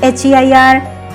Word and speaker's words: heir: The second word HEIR is also pronounced as air.